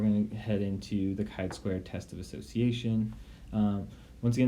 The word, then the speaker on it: chi-squared: Yes, it's pronounced chi-squared, test of association, where